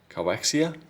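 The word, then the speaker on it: KIOXIA: I can't remember the pronunciation of the brand. Coaxia.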